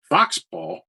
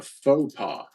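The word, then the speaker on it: faux pas: Foxpaw? Yeah. What? That means fake pop. That Oh. means fake dad. A faux paw. Oh, a faux paw. Faux paw. Yeah, I always think it says fox paw.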